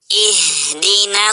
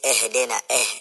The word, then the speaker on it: اهدنا: نعبد وإياك نستعين اهدنا الصراط المستقيم. اهدنا الصراط. So don't say اهدنا. It's not or اهدنا. اهدنا, that's wrong. So you say اهدنا.